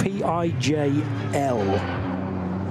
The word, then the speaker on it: Pijl: Pijl, I think. P-I-J-L. And the I and the J in Dutch is often considered to be like the English Y. So I'm going to say Pijl.